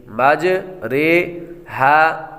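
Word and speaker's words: مجريها: امالہ کی را کو اردو کے لفظ قطرے کی را کی طرح پڑھے، یعنی ری نہیں بلکہ رے پڑھے۔ اس کی وضاحت بھی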